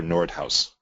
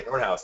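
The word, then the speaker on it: Noordhuis: And actually, that name is a Dutch name, and the H-U-I-S is pronounced house. So it's Peter Nordhaus. Okay. Just for I've only read it, never heard it pronounced. Okay, Nordhaus.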